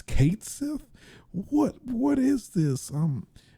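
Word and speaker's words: Cait Sith: of Final Fantasy 7 Fame which is um Kate Sith which uh has been confirmed to be the official uh pronunciation of Kate Sith technically I always said cat personally I always say said cat Sith um but technically according to square uh the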